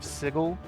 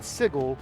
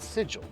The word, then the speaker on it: Sigil: And yes, I said sigle, not sigil. I know it's spelled sigil, but the original creator of this, even though he spelled it that way, pronounces it sigle.